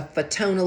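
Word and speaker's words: Fotona: And the latest technology is to use a fetona laser like photon light photon, but it's spelled with an F.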